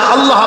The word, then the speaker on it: আল্লাহ: কথা নিশ্চয়ই মনে আছে আল্লাহ এই উচ্চারণটা আমাদের অনেকের হয় না কেউ বলে না আল্লাহ আল্লাহ পাকের উচ্চারণটা হচ্ছে আল্লাহ পাকের নামের উচ্চারণ হচ্ছে আল্লাহ মুখটা একটু গোল হয়ে যাবে বলেন আল্লাহ আল্লাহ